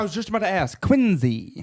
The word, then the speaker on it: Quincy: If you probably notice, I pronounce it Quincy. with Yeah, a no, Z. I was just about to ask. Quincy. Quincy.